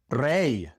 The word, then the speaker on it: rey: When the Y comes at the end of a word, well, then it's just pronounced like the Y in English at the end of a word. E, such as in muy, muy, rey, rey, hoy, hoy. In these words, the Y is pronounced E, muy, rey, hoy.